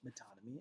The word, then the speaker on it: metonymy: devices used in poetry metonym and synecdoche is how they are pronounced metonymy and synecdoche and I'll be discussing